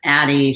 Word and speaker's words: ADDIE: a friend that says addie should be pronounced at i because the e is silent often i think that you